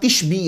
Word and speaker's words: तिशबी: इलियास अलैहिस्सलाम के साथ तिशबी आता है, तो आप मुताला करते हुए नून मत पढ़िएगा, वो ता है।